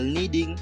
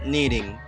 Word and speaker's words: kneading: you can see there's we have four silence letters that we have the first is no the second is knock and the third is knee and the last is kneading and the second example